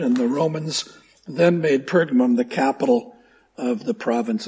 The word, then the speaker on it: Pergamum: of turkey the name pergamum is usually well you'll encounter it in three ways one is perum as I'm pronouncing it today or pergamon like Pokemon or pergas pergamos however you pronounce that